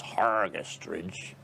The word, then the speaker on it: Hergest Ridge: of the bells came hergest ridge or pronounced properly by the locals hargest ridge which was a much